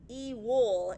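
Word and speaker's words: ewil: So, the W in Hebrew can either be uh pronounced like a V or a W. The W sounds very dumb to me. But when I say evil, I don't mean evil. Okay? I mean the Hebrew word e-wool just sounds like I have a speech impediment.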